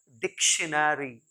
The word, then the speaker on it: dictionary: फिर DICTIONARY, बचपन से ही इसको हम गलत प्रोनाउंस करते आ रहे हैं माय डियर लर्नर्स। एक्चुअली ये है डिक्शनरी, डिक्शनरी, डिक्शनरी।